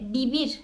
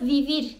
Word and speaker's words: vivir: V harfinden gidecek olursak, bu yine Madrid telaffuzunda Bursa'nın B'si gibi bir ses çıkarıyor. Ama Güney Amerika ülkelerinde, hepsinde mi emin değilim, birçoğunda diyeyim, yine Viyana'nın V'si gibi bir ses çıkarır. Örneğin Madrid'de bibir derken orada vivir diyebiliyorsunuz.